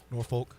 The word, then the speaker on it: Norfolk: you say it Norfolk I go Norfolk it almost sounds dirty I know be careful nor bleep Shirley uh how do you say it norfol okay norfol I didn't know there was another pronunciation yeah wow skip says